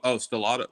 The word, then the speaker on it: Stellato: I can't pronounce his name. Stelloo. Oh, Stellato.